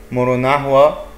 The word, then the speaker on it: Murunahua: A decade ago, first contact was made with the Murunahua, pronounced Murunahu, Nau group that was living in an area in the Peruvian jungle about 100 strong.